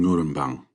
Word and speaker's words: Ngurambang: I was born on Ngurambang. Can you hear it? Ngu-ram-bang. If you say it right, it hits the back of your mouth, and you should taste the blood in your words.